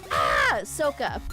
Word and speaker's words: Ahsoka: what was it again ah sooka it's Ah sooka that's that's the only way you'd pronounce it I'm pretty sure that's the right way to pronounce it I'm just saying okay